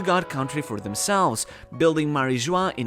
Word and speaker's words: Mary Geoise: And, hear me out, could this be the reason why Mary Geoise is pronounced the same as “joie”, which translates to “joy”, while "Mary" comes from Latin "sea".